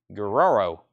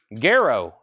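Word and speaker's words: Guero: grass I don't never I never know how to say this one Guerrero Garo is what Josh is saying Garrow I guess that makes a lot more sense banks are 24.99 whoever's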